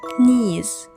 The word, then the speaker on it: knees: Knees. knowledge night. In these words, we don't pronounce K. K is silent.